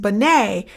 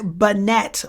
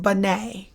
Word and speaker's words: Binet: taking your exam uh the name Binet it's French so it's pronounced Binet but it's going to look on paper like Banette b-i-n-e-t so don't get